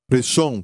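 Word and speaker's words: ראשון: Diga Rashom. Reshon quer dizer primeiro. E se escreve assim, em hebraico, da direita para a esquerda: Resh, Aleph, Shin, Vav, Nun. Reshon. E aqui o R é R, certo?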